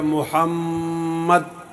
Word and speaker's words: محمد: صاحب کہتے ہیں کہ محمد کا جو دوسرا میم ہے اس پر ٹھہرنا ہوگا، اس کا صحیح تلفظ یہ ہے محمد۔ دیکھو نا ہمارے شاگرد